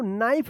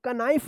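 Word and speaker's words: knife: नाइफ पढ़ेंगे इसको। कनाइफ मत पढ़िएगा।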